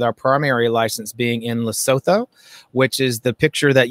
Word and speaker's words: Lesotho: primary license being in lesotho which is the picture that you see behind me um is the plants that are there that's actually in lesotho or they pronounce it lesotho if you're unfamiliar where